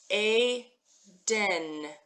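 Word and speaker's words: עדן: And the ayin is just holding the place up there. It's not making any sound at all. If there were just a vowel there, it would be the same, right, guys? So we've got Aiden. So in English, we say Eden, like the Garden of Eden. In Hebrew, it's the Garden of Aden.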